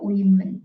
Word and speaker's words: women: comon Oh women Jadi kalau women dibacanya women pakai I kalau men sama ya